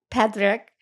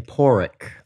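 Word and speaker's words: Pádraic: believe that that that Patrick am I saying his name right Patrick I'm almost going to that donkey well they just pronounced it in the movie they were saying poric okay that's why it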